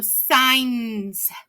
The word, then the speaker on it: signs: we have is signs do you see that G and it's a blend the G n makes a sound and the AI is a long I so signs do you hear that